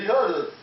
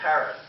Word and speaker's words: Harris: And now it's me, Hattis. No, it's Harris. That's what I said. Hattis. No, it's Harris. Say it correctly.